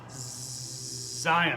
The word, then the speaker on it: Zion: - woohoo oh look he's got a cool name that rhymes with lion Zion that's right to give